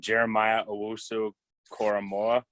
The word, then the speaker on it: Jeremiah Owusu-Koramoah: I never pronounce his name. Jeremiah Owusu-Koramoah.